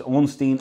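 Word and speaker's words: Ornstein: to get to the main boss which is orstein and small I think that's pronounced correct so here we go it's onstein and small that's these guys here uh and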